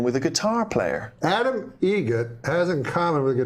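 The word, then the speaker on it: Eget: Adam Egget. Egget. Spelt differently. Like the bird. That's Egret. Do you know what Adam Egert has in common with a guitar player? Adam Egget has in common with a guitar player.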